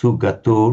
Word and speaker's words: sugato: It's a short vowel but it's got to be distinctly pronounced sugato not something but otherwise very good.